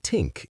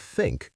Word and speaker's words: think: They might say tink instead of think or this instead of this.